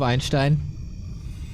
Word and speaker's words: Einstein: Love that you want to educate me on the pronunciation of Einstein. Probably coming from Americans who pronounce Stein as Steen.